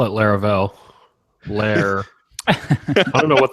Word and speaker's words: Laravel: continue saying LEL yeah it rhymes with Fair pair like pair programming Lara I don't even